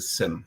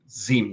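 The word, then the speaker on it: SIEM: some people would use a SIM or a ZIM, depending on how you want to pronounce that.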